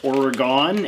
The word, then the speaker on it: Oregon: own and now we have a parcel from Oregon or Oregon as I grew up pronouncing it every two years since 1911 the